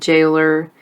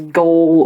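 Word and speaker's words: gaol: a britishism jail and jailer when i was reading it the book i wanted to read it as goal or goalers but no you just pronounced it as jail and jailer and they changed that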